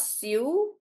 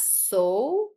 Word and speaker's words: sew: So guys, um this word is not sue. This word is pronounced as sew. Like so.